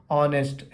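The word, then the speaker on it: honest: होता है यहां पे ऑनेस्ट एच साइलेंट हो गया ऑलमंड ऑलमंड बोलते हैं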